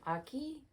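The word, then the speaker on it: Ache: pull it up Susan Aki her last name is spelled a-c-h-e I think um but it is pronounced Aki like haki um she has a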